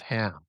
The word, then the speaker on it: Cham: over to Egypt with Ham, right? And so that word chem, Chem, sometimes spelled Cham, is actually pronounced Ham, Ham Zarathustra.